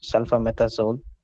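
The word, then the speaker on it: sulfamethoxazole: It is pronounced as sulfametazole, and there seems to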